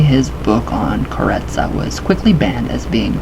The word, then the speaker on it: karezza: The mental technique used to accomplish this is known as karezza, with the accent on the second syllable.